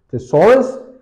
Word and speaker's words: thesaurus: all right then comes thesaurus it has three syllables thesaurus is a sort of